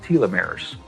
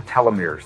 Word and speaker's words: telomeres: of DNA that are called telomeres or telomeres they're pronounced both ways they become riddle as